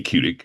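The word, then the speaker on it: Kudick: My name is Kudik. That's spelled K U D I C K.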